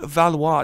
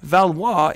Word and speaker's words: Valois: up there all right uh how do you say Valor all right let's just check this out guys I'm just I was lying guys so the monarchs of France are called the valois Dynasty valois is their last name